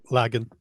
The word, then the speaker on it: Lagan: I hope I pronounced that right. How do you say your last name? Lagan.